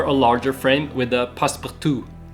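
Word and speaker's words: passe-partout: This is an A3 frame with the passepartout, the little white edge that adds a little extra.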